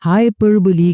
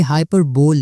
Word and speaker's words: hyperbole: हाइपरबोली क्या चीज है? ये हाइपरबोल नहीं है, ये प्रोनाउंसिएशन इसकी समझ लें, हाइपरबोली। हाइपरबोली is an exaggerated statement not meant to be taken literally।